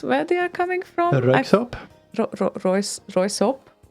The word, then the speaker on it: Röyksopp: Röyksopp. Roysop? What? Röyksopp. Royksop? Röyksopp. I always thought that it's Royskop.